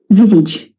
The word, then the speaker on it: visage: Visage.